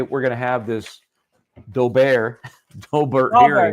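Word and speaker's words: Daubert: GNA have this doar dobert it's pronounced Dober I'm trying to educate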